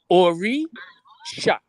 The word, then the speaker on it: Orisha: It's Orisha. Orisha. no, it's not shy. There's no shy.